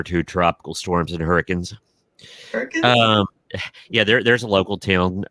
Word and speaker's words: Hurricane: Hurricanes? Yeah, there's a local town. It's Hurricane, West Virginia, but it's spelled hurricane. But they say it hurricane.